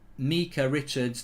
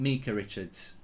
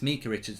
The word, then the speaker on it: Micah Richards: It's pronounced Micah Richards, not Micah Richards. Micah Richards. It's Micah Richards, not Micah Richards.